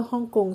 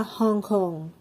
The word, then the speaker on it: Hong Kong: China and Hong Kong เวลา ที่ เรา ออก เสียง ภาษา ไทย เรา จะ พูด ว่า ฮ่องกง ใช่ ไหมย คะ แต่ ถ้า เกิด ออก เสียง เป็น ภาษา อังกฤษ ก็ จะ สามารถ พูด ได้ ว่า ฮอง คอง นะ คะ เป็น ฮ นก